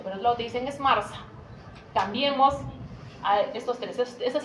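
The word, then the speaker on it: MRSA: Mars que es Mars se pronuncia Mars pero se escribe m RS meilin resistance estafilococus aus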